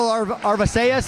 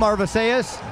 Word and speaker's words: Arvisaiz: Coming down out of the red corner, we've got Michael Arvisaiz, I believe is how you pronounce the last name, Arvisaiz.